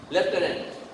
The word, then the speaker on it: lieutenant: Lieutenant. Not lieutenant. Lieutenant, lieutenant, according to spelling, but the pronunciation is lieutenant.